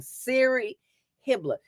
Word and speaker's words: Siri Hibbler: I even said her name wrong. Siri Hibbler. You know the thing on the phone that says Siri.